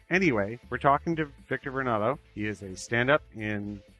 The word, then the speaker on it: Varnado: Am I pronouncing this correctly, your last name, sir? Varnado, yes.